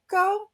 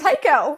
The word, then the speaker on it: Tao: um because I remember I can never pronounce this name please correct me it's a Tao yes Tao okay he was such an